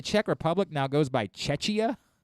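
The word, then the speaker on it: Czechia: just c it's c it's spelled the same way c z e c h i a chechia and that's apparently what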